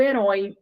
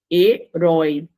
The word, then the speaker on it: herói: o quê palavra oxítona herói herói palavra oxítona né então se a palavra oxítona Oi com pronúncia aberta vai continuar acentuado então vé monossílaba acentua